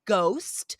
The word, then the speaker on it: ghost: And finally, guys, any words that start with GH, we do not say the H, just like WH, right?